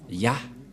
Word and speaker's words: Yah: allons réécrire allons-y euh en premier c'est et et ça se prononce selon les Juifs le premier terme que je vais mettre en bas sa prononciation se lit I et l'autre se lit à H je vais expliquer simplement et lorsque on va regrouper à la normal ça se transforme en ya que nous allons écrire